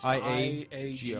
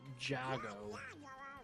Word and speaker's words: Iago: There's no J in it So it whatsoever. was IG. It is I-A-G-O. I-A-G-O. Iago. Not Jago.